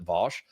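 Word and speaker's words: Vaush: I've noticed that because vouch was used kind of as like a derogatory way to pronounce his name because everybody who likes him pronounces it Vosch.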